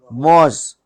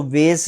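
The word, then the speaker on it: was: एस ई क्या है वाज वाज इसको वेस नहीं पढ़ना हां आगे है कछुआ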